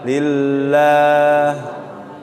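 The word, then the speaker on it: لِلَّهِ: Kalau dalam surat Al-Fatihah, alhamdulillah, lillah. Lah di sini tafkhim atau tarqiq? Lillah. Tarqiq tipis lah ya. Bukan lillah.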